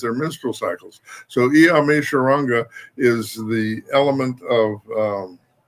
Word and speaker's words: Oshoronga: That Oshun Oshun Ronga, Oshun Ronga. Oshun Ronga is how it's pronounced.